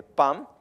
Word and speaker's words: Pam: part of the name Padma is PA with the tig which is the dot which makes the sound ma it becomes P so mostly the S syllables are mostly most of the times are the first part of the name with a DOT which makes the sound of ma okay so that's why we say Pam because the word Padma